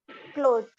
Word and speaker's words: clothes: clothes, Now this is clothes. Clothes. Clothes. clothes, The. Basically, the sound that comes from the end is not S.